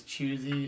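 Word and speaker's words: Chwazi: it for everyone because it's like in French it's like the French word for choose the Hwa Zi there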